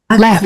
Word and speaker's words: accro: Donc accro, sans C, hein. Les crocs, là tu as un C final, mais qu'on prononce pas non plus. Les crocs, les crocs des les animaux. crocs. Et là, être accro, Être accro. voilà, on se termine juste avec un O.